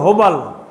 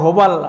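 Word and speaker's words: هبل: 360টার মধ্যে একটাকে তারা প্রধান মূর্তি বিশ্বাস করত, এটা হলো হেড, মূর্তির প্রধান, সেটা হলো হোবাল। হোবল বলে কেউ, হোবাল আসলে আরবি উচ্চারণ হলো হোবাল।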